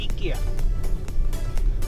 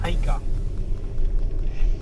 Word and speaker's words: IKEA: Oslo का इकिया, और जिसको इंडिया में बोलते हैं आइका। यहाँ पे इसका प्रोनाउंसिएशन थोड़ा डिफरेंट है। यहाँ पे इसको इकिया बोलते हैं, बिकॉज आई को यहाँ पे ई बोलते हैं, तो इसलिए इसको यहाँ पे ए बोलते हैं।